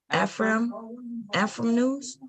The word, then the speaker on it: Afram: Say Afram news. Yeah, it's African American. Oh, it's like African American news.